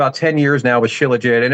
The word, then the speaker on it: Shilajit: I pronounce it Shilajit. It just rolls off my tongue like that.